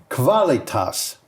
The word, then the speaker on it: Qualitas: Nordex group has received a 56 megawatt order from Qualitas. All right. Kavalas because they pronounce a quu like it's KV um Energy Energy Deutseland for the Vipper Shine Vipper wind farm in Hessa.